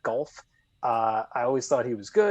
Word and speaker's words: Goff: You got to say it like Troy Aikman, Jared Goff.